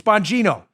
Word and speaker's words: Bongino: say it directly bongino it's not bongino it's bongino the italians pronounce their geez like jace don't ask me why i